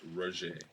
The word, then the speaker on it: Rozha: It's Raj. Raj. How do you spell that?